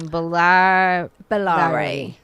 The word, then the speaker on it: Bollare: Pronounce the name. Bellare.